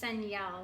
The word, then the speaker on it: Senyel: It's Senyel. That's how you pronounce her name, Gaming Girl 18. Senyel? Yeah, Oh, okay. Senyel.